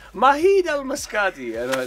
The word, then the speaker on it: Majid: It's like the Spanish, the silent J.